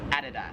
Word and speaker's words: Adidas: In America, we would pronounce this Adidas. as Adidas. However, here in Australia, it is Adidas.